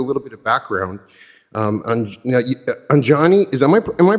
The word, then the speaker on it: Anjani: Just to give you a little bit of background, Anjani, am I pronouncing that when I say Anjani? Well, I'm pronouncing Anjani.